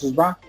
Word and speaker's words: shevá: Por ejemplo, en esto que presenta Moisés Chávez, de lo que me mostraron o me enseñaron es que nosotros pronunciamos Sheba.